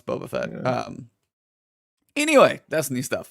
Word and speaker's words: Boba Fett: No, it's Boba Fett.